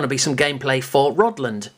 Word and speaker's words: Rodland: be some gameplay for rodland not rod land don't say england england rodland or maybe i've got it wrong maybe it is rodland i've always called it or pronounced it roddling but call it what